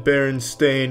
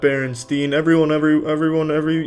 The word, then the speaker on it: Berenstain: It's always been Berenstain, not Berenstein. They all want to pronounce it Steen, but it's Stain.